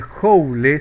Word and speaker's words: joule: Se representa por la letra J y escribe joule, se pronuncia joule, ¿no?